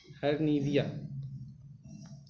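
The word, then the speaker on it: hryvnia: इसकी स्पेलिंग ये है, आप लोग इसका उच्चारण ठीक से कर लीजिएगा, हायरनिविया।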